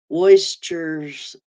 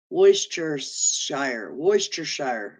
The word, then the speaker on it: Worcestershire: Oh, the R is silent. Worcestershire. Okay. Worcestershire.